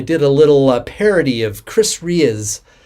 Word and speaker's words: Chris Rea: I think last year I did a little parody of Chris Ray, I believe it's pronounced, Driving Home for Christmas.